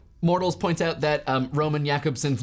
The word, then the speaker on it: Jakobson: Mortles points out that Roman Jakobson's name is pronounced Jakobson and not Jacobson, which I apologize.